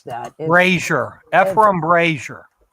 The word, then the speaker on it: Ephraim: I don't even know how to pronounce that. Brazier. Ephraim Brazier. Ephraim.